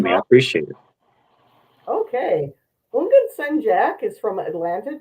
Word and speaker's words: Houngan: It's like the H is silent, so like Houngan. Houngan.